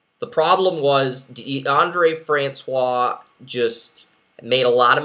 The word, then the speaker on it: Francois: Well, the Florida State quarterback, I can't remember how to pronounce his name. It's DeAndre Francois.